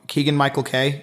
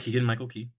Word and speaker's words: Keegan-Michael Key: Keegan-Michael Key, was that right? Yep, Keegan-Michael Key. See, I say K instead of key. That's what I mess up.